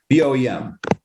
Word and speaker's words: BOEM: How do you pronounce B-O-M-E? B-O-E-M.